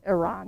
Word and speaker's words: Iran: Or Iran is actually how you're supposed to pronounce it.